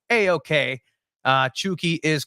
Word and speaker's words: Chucky: pronunciation for chuki and it's exactly like that it is c h o and then key uh for them so